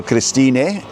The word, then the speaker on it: Christine: So, Christina is spelled like Christine in English. C H R I S T I N E. But the Germans pronounce the E on the end.